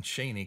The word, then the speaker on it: Cheney: That's a good one, Shaney, because it sounds sort of like Shane or Shane, I guess would be a better pronunciation.